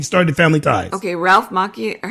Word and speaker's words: Macchio: Okay, Ralph Macchio, or how do you say his last name? Macchio.